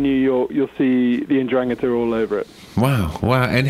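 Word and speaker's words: 'Ndrangheta: So the word is, it's Ndrangheta. You put the stress on the second syllable.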